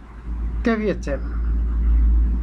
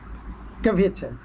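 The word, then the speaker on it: kwiecień: এপ্রিলকে বলে ক্যাভিয়েচেন, KWIECIEN, ক্যাভিয়েচেন। ক্যাভিয়েচেন, ডাব্লিউর উচ্চারণটা আপনারা জানেন যে ভি এবং ফ, মানে ভ এবং ফ এই দুটোর মাঝখানের একটা উচ্চারণ ক্যাভিয়েচেন, ক্যাভিয়েচেন, ক্যাভিয়েচেন।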